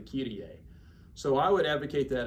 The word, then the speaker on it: Kyrie: So most people use Latin pronunciation when they're speaking the text of the Kyrie.